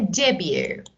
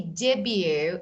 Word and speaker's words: debut: A debut. So T is not pronounced here. So we, yeah, of course. And when we say debut, it's like, you know, maybe the first.